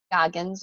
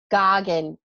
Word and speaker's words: Goggin: say your last name do I do I say it properly nope oh no I said it wrong oh no can you correct me please Allison she's muted you're muted okay Gagen Goggin okay no s Allison thuggin and so